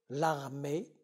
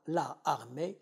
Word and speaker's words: l'armée: L'armée, l'élégance. On ne dit pas la élégance, on dit l'élégance. On ne dit pas la armée, on dit l'armée.